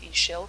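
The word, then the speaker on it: Ixchel: Ishel, pronounced Ishel, creativity.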